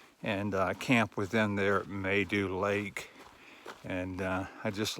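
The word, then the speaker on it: Maidu: morning i stayed at maydoo lake i guess that's how you pronounce the m-a-i-d-u they do lake last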